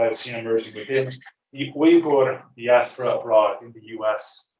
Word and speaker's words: Uyghur: I've been asked to use the pronunciation Uyghur instead of Uyghur, which is more common in English. I'll be saying Uyghur throughout the presentation.